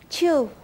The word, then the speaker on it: Chu: ¿Cómo se pronuncia? Chu.